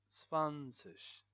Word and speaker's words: zwanzig: Ein und Zwanzig. So it's like ein and then und and then se. So the z here is pronounced as s. Zwanzig. Z is s and w is v.